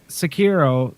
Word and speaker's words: Sekiro: And so Sekiro, am I pronouncing that right? You are.